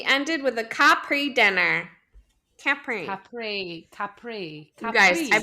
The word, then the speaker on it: Capri: yeah but also then people say it like Capri Sun which it also is not Capri it's Capri okay well we don't capr